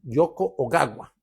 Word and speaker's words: Yoko Ogawa: Este libro es de un japonés, mírenlo aquí, que se llama Yoko o guagua o gagua. Yoko oagua, así es como se pronuncia realmente, lo estuve rastreando, pero el título del libro es La fórmula preferida del profesor.